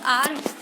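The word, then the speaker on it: hour: एच ओ यू आर, इसमें H silent है और आर प्रोनाउंस हो रहा है इसका. ठीक है. प्रोनाउंस किया जा रहा है आर इसे.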